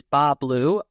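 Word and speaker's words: Bas Bleu: hey Tony it's Bob you don't pronounce the S oh it's a French French okay another intense production in the Fort Collins area is Bob blue uh who who is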